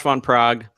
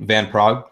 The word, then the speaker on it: Van Praag: Is it von Praag, or is there like a better way to pronounce that last name? I think Van Praag. It's usually go for. There's no Von. It's Van. I think if you wanted to go full out, it's like Von Praag.